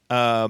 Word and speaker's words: Yura: Yura.